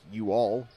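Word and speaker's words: Yual: ball by the way his first name is spelled y u a l it's the only instance I ever know of that name sounds like you all which is the uh informal contraction um uh so um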